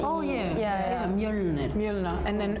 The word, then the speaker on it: Mjölnir: In Iceland we say Mjölnir. She In did Sweden, we say pretty well, Mjolnir.